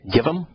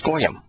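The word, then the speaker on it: גויים: But probably not, because it's goyim. And you know why it's goyim? Because it's G-W-Y-M, and the W is pronounced O. That's why it's goyim. It ain't givim.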